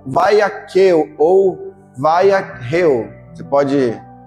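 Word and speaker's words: Vaiak'hêl: A primeira porção, o nome dela é Vaiaqueu, ou Vaiaqueu. Você pode pronunciar? Diga Vaiaqueu, fica mais fácil.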